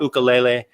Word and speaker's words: ukulele: I taught ukulele. I said it right, ukulele. You know, you said it right, because now I know how to say it. Well, yeah, you got to add the emphasis in lele.